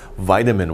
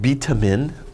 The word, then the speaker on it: vitamin: a name right here vitamin water say vitamin not beta min that's wrong vitamin vitamin okay that's